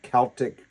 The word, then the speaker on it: Celtic: And they loved and to sing and play about ancient Celtic Christian faith of Ireland, Scotland, England, and Wales. Now, I say that word Celtic cuz if any of you are Boston basketball fans, you say, "That's not right.